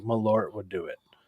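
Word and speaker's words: Malört: Isn't it that pronounced shit is Merlot? so- Isn't the T like silent? No. That's Not Merlot. Is it? No. Not like Merlot, like the guy from like Merlot True Bloods.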